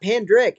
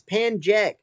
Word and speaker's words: Pankaj: Like, no, it's not Pandrick. It's Panjek. I got the J and K mixed up like 3 months ago, and I just ran with it. I get it. I understand that I say it wrong.